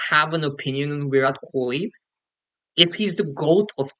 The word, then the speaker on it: Kohli: I think the pronunciation is Kohli. You kind of ignore the H.